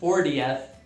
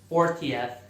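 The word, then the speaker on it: fortieth: Aqui eu estou pronunciando o T mais fraquinho, 40th.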